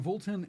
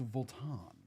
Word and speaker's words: Vuitton: It's not Voltton, it's Volan.